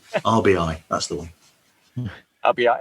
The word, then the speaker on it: RBI: Ribby, yeah. That's how they pronounce it. Ribby. RBI, that's the one.